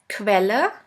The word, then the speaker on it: Quelle: The next one is QU, which is pronounced like the letter combination K and V. Let's have a look at the example. Quelle, which means source.